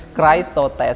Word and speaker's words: Chrestotes: sih sebenarnya itu bahasa bahasa Yunani sebetulnya baca Christo test strips ya bacanya gitu katanya jodoh tapi kalau lidah-lidah Jawa